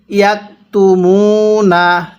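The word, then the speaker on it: يكتمون: এরপরে ইয়াকতুমুনা, মিমের মধ্যে এক আলিফ, মিম ওয়াও পেশ, মু পেশের পরে ওয়াও সাকিন দেখলে এক আলিফ টেনে পড়বেন।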